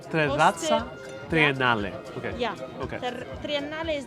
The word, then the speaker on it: Terrazza Triennale: How do I pronounce the name of the restaurant? Terrazza. Sì. Terrazza Triennale. Terrazza Triennale.